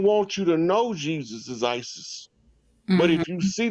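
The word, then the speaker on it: Ἰησοῦς: IESOUS, hard pronunciation in Greek is ISIS.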